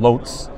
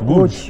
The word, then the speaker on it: Łódź: I'm going to say the American pronunciation, Lotz. Uh-huh. Is that right? Lotz, but it's Łódź.